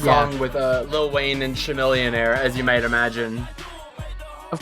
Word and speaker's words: Chamillionaire: It's Chamillionaire. It's Chamillionaire. The H is silent. Yeah, like a chameleon.